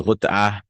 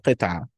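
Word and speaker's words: قطعة: So this is gut'ah, a piece. Gut'ah, a piece. Nitfa, a bit. Nitfa. Some new words here. And habbah, a grain. Gut'ah, like qit'ah, a piece. Gut'ah.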